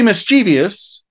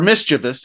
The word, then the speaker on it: Pretty Mischievous: for the ladies pretty mischievous or mischievous I should say I believe that's how it's pronounced pretty mischievous looks like